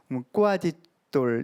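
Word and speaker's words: coadjutor: 이제 부주교 그러면은 꼬아지돌 이런 발음으로 해요. I 혹은 J로 표기하는데 선임 주교가 돌아가시게 되면 선종하시게 되면 바로 계승권을 가진 주교님을 과거에 부주교 꼬아지돌이라고 표현했습니다.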